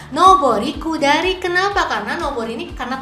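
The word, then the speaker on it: 上り下り: Apakah agari sagari atau nobori kudari? Nah, biar enggak bingung yuk kita simak materi di video kali ini ya. Jawabannya kalau yang ini adalah nobori kudari.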